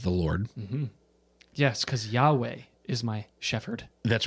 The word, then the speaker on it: Yahweh: And so we talked about the word that's used there in Psalm 23 is Yahweh, which again, how Hebrew works, that word is also sometimes pronounced Yahovah.